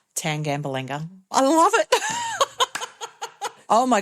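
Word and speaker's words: Tangambalanga: So tan like a suntan, gamble like the pokés. anger. What I'd be if my husband took up gambling tan gamble anger.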